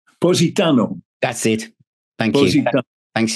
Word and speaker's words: Positano: the next one uh posted tonato is it n um the next track um I probably not pronouncing that very well POS it Oho I think it is Positano that's it thank you